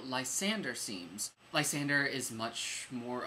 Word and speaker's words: Lysander: learned that last night I thought it was Lysander but it's Lysander I'm saying my name wrong all these years what's